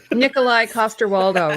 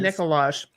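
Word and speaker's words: Nikolaj Coster-Waldau: Nikolai Costaldo, right? Um, yes. Nikolai Costaldo. Yes. I I for ages I got his name wrong. I was like someone's like, "Would you Hello. I think I said Nicolage."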